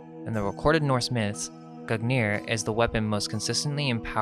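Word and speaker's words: Gungnir: Nordic, Gugnir, Old Norse Gugnir swaying, pronounced Gugnir, is the name of the mighty spear that belongs to the old god Odin.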